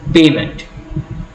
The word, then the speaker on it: payment: Rule number 5, the primary accent is usually on the first syllable in 2-syllable words. For example, payment. Again, in the word payment, the root word is pay.